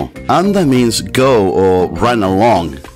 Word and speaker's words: anda: to go away and Mexican and Spanish would pronounce this as Anda whereas argentinians would emphasize it in the second syllable once again Amigos thank